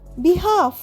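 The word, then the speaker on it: behalf: বি এইচ এল এফ বিহাফ। এল এর উচ্চারণ। হবে না মানে কারোর পক্ষ হয়ে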